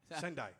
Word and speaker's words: Sendai: Well, okay, so team, send, time, Sendai. Sendai. Right.